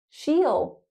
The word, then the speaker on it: she'll: She'll. She'll. Again, meal.